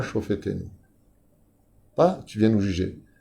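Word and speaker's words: שופטינו: Ensuite, on tourne, Ashiva Shofetenu, pas Shoftenu, faites attention quand vous prononcez, on ne dit pas Shoftenu, Ashiva Shofetenu.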